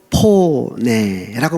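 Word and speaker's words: φωνή: 헬라어로 포네라고 말합니다. 포네. 이게 뭐냐? 소리라는 겁니다. 이 포네를 영어 발음으로 그죠?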